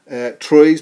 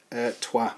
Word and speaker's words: Troyes: I know it says it's looks like it says Troyes, but it is pronounced Trois.